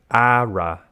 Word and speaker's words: Aura: me with the saying it's ARA ARA so it's not Aura it's ARA wheel okay ARA wheel it's